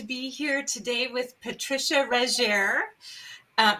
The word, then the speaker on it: Regier: here today with patricia reggier um am i pronouncing your last name right regier but everybody everybody makes it french so that's okay i'm